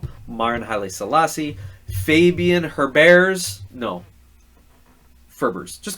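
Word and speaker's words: Maren Haile-Selassie: Marian Haile Selassie. No, Marin Haile Selassie.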